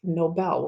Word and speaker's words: Nobel: Muslim we all know that Nobel it's not Noble its Nobel when we pronounce it we say the strength on the BL Nobel Prize and support those are fine in this